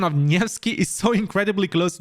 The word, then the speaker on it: Nevsky: Everybody, Nevsky.